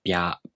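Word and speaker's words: びゃ: Alright, let's take a closer look at how to pronounce bya, byu, byo. To pronounce bya, you first make the tongue position of the B sound. Then the tongue moves into position for the a vowel.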